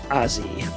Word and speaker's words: Ozzi: av club and others his last name is pronounced ozzy it's d-a-n-o-z-z-i he lives